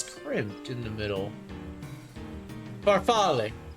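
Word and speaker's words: farfalle: Farfale. Farfale. That's it. Farfale. Yeah, barfal pasta. Uh, spelled like this.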